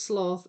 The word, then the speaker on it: sloth: Um where I live like early heard as sloth rhymes with broth.